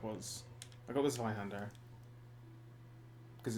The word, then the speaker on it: Hand: play and the okazemi the German word for hand is it's hard like you have to say it like hand yeah it's like that